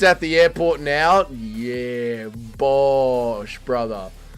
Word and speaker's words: Bosch: No, it's Bosch. Someone spell it for my brother, probably.